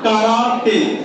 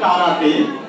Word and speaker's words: karate: Have you heard karate? Yeah, actually it's karate. It's not karate, but in English we pronounce it as karate.